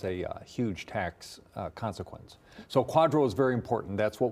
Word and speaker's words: QDRO: QDRO.